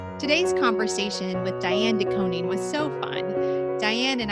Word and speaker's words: DeKoning: DeKoning, Dianne DeKoning.